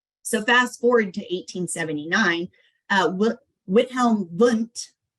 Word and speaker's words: Wilhelm Wundt: So fast forward to 1879, Wilhelm Wundt, pronounced with a V, is the father of psychology.